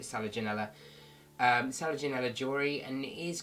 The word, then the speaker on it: Selaginella: I've heard loads of people pronounce it differently. I call it Selaginella.